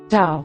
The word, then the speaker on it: tau: T, tau, tau, sounds like the T in the English word stop. As with pi, tau is never aspirated as it is in English.